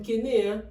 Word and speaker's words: Kenne: Déjà, ça ne se prononce pas Kené, mais Ken, comme Barbie et Ken.